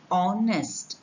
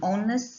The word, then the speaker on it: honest: successor so we have we call it mute h words with mute h such words take an because they begin with a vowel sound you have examples here